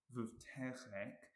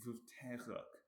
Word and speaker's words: Wølfterek: why this is the So it's not Wølfterek, it's Wølfterek, because it is a suffix.